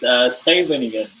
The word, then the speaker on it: Scheveningen: So over here, the famous word for people to pronounce it is Scheveningen. So it sounds different from the way you read it.